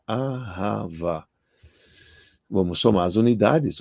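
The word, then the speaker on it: אהבה: hebraico arrava amor arrasava o que é se pronuncia aava Vamos tomar as unidades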